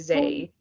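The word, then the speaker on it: xe: i like the ones it's an x and then an e for like it's like they it's pretty i pronounce it z oh my god you're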